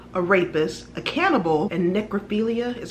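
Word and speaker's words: necrophiliac: he was a killer a rapist a cannibal and necrophilia is how you say it who killed six people in sacramento county between 1977 and 1978.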